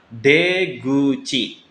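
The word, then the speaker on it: 出口: Dibacanya deguchi. Oke. Mulut kan kuci minasang. Ketika digabung dia mengalami perubahan bunyi menjadi gu. Kuci menjadi guci ya.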